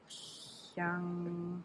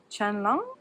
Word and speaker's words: Qianlong: Okay, so this is Emperor Qianlong. Because I know QI is pronounced like Qi, I guess. Qianlong.